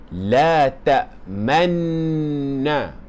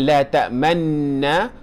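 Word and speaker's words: لَا تَأْمَنَّا: Yusufa wa inna lahu okey boleh tengok kat atas ni kita bacanya sebagai la tak tamanna bukan la tamanna tetapi la tak tamna ala yusuf tuan puan-puan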